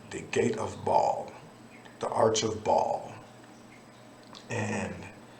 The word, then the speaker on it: Baal: But when you do the ancient history on it, it's actually the Arch of Baal in the ancient pronunciation, but here in the West we call it Baal.